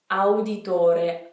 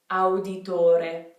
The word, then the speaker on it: Auditore: So it's not O, it's not that sound, it's ow. See how in Italian all of the vowels are pronounced? Even when we have two vowels beside each other, each one is pronounced individually. So, auditore, ow, auditore, auditore.